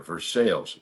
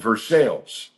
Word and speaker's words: Versailles: We got here to the Kentucky Castle last night in Versailles. That's how they say it here. Versailles, not Versailles. So we are at the But we are in a castle.